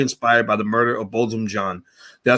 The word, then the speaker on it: Botham Jean: Four Beau, a play inspired by the murder of Botham Jean. Did I say that right? I said I couldn't pronounce everything correctly?